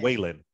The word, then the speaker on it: Whelan: Is it Whelan or Whalen? Am I saying it right? Whelan or Whalen? I think Can it's y'all Whelan. check in my ear? Yeah, is it Whelan? Okay.